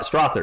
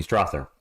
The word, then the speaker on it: Strawther: it's cut off little on the screen St strawther excuse me Strather I'm tired for San Antonio Spur who lost